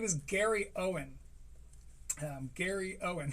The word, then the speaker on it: Gary Owen: is Gary Owen um Gary Owen spelled like it sounds and Uh yeah, and